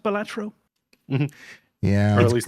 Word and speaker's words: Balatro: and I'm glad to see, is it pronounced Balatro? Mm-hmm. Yeah. Or at least that's all I've always been pronouncing it. Perfect. It's pronounced Balatro by me, That's enough.